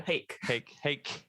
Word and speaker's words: Haeck: Rhymes with cake, so Haeck, which I'm loving it.